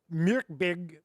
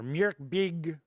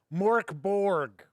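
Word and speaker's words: Mörk Borg: Myrkbig or Myrkbig is close because it is not Mork Borg, which I made the mistake calling it originally.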